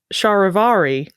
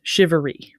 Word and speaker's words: charivari: you see here and in English at least it is conventionally pronounced shivery sort of I've been